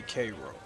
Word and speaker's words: Cairo: The people that I know that are from there say Cairo.